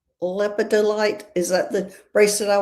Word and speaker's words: lepidolite: I am saying this name wrong. It's got to be Cheryl, I'm assuming. Hey, Tina. Oh, that's lepidite. Lepidolite.